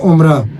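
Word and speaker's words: عمرة: बोलते हैं अल उमरा अल उमरा में भी एंड पे ता है तो ता जो है वो नहीं प्रोनाउंस होगा उमरा अल फिराक फिराक मीन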